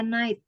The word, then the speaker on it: night: Jadi cara bacanya 8 gitu. Sama 8 kan kayak gitu. baca night.